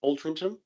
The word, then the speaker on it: Altrincham: The venue closer in Altrincham, that's how it's pronounced.